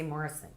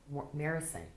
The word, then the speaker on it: Marison: It is Marison. Oh my gosh. Oh, I always say Morrison. Marison. It's an A.